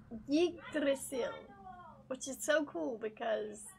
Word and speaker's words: Yggdrasil: I used to call it Yardzil, which is so stupid because there's no yard in it at all.